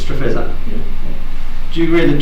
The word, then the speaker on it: Streatch: Correct pronunciation? Streatch. Yep. This interview is conducted at the Nyah Police Station on Thursday, the 30th of August 2018. Mr. Streatch, is that correct? It's Streatch.